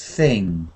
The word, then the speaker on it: thing: anything or any thing no gut or cut at the end just thing soft at the end